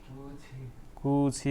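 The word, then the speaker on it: 끝이: Normal अवस्थामा थी पढिन्थ्यो होइन, तर यसको उच्चारण यो हुँदैन। के हुन्छ? कुछि हुन्छ।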